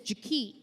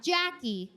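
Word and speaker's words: Ja-Ke': Her name is Jakit, not Jackie. J key. It's spelled J A dash capital K E apostrophe.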